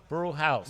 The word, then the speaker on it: Brujos: They believe it or not, they pronounce a house. Okay. Brew House. But it's spelled Brujos.